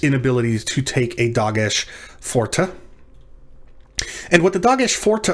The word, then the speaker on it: forte: ace the dog forte forta or dage khazak this means strong doge remember it's not forte this isn't italian this isn't a musical instruction this is latin from